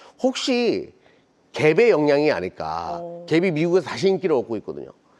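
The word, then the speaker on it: Gap: 캡 아세요? 김진 씨 몰라요. 캡이라 브랜드를 잘 모르더라고요. 요즘 분들은. 근데 이강모 대표님 알아요? 캡? 캡요? 갭 갭 갭이라고 읽어 되나?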